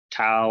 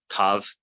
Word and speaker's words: tau: Tau, or as it's pronounced in Byzantine Greek, tav, makes a T sound.